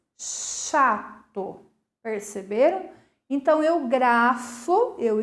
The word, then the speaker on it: chato: Se vocês forem observar, o C e o H apresenta apenas um som, o som de X, chato, perceberam?